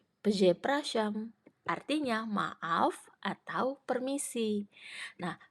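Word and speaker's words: przepraszam: Z Pras zam oke di sini kita punya digraf RZ berarti r-nya hilang enggak dibaca dan SZ yang dibaca jadi se jadi cara bacanya peze praam peze prasam artinya maaf atau Permisi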